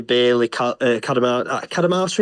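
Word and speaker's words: Bailey Cadamartori: As to the younger players, like your Bailey Cadamartri, is that how you say his name? Yeah, that's it. I'm terrible with pronunciation.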